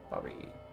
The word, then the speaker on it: Бабай: Бабай? In your closet? Yeah, Бабай, that's how you pronounce that, fuck.